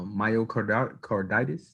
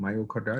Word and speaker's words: myocarditis: out um showing you know four-year-old kids uh myocardial carditis that's how you pronounce it myocarditis oh you had a heart joint yeah um